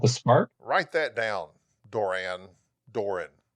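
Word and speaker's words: Duran Duran: Doran. Doran. I noticed you put the emphasis on the first part. Doran. Doran. Yeah, it's not Duran. Duran.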